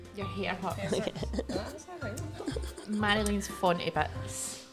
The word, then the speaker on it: Marjolein: walking down a lane, like Mario Lane. Yeah. Marjolein.